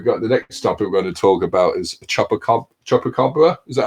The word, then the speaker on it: chupacabra: There, I'm just going to say we've got the next topic we're going to talk about is chupacabra. Is that how I pronounced it right there, John? Chupacabra.